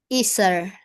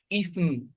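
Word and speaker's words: إثم: Isar. Oh, check very well because Is. Ethan, Say ithm. Listen. Ithm. You close your mouth like this. Because it is meme.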